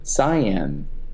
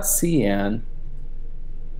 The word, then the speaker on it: cyan: pronounce a Cayenne sign no Cayenne it turns the name of the pepper cyan so it's not CN cem sounds like a very terrible pronunciation well it is a terrible pronunciation but it also sounds like a terrible pronunciation so not CN cyan I am yes I